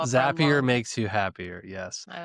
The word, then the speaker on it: Zapier: Zapier makes you happier. And that's how I remember to Oh, pronounce it. that's good. So And it's a zap, right? It's not a zape.